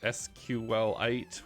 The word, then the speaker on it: SQLite: talked about uh before sqlite we learned last time that it's properly pronounced s q Lite like it's a supposedly a mineral um but that's in